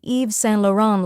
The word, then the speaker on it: Yves Saint Laurent: full name properly now you can confidently say Eve San lauron like a fashion Insider try it out and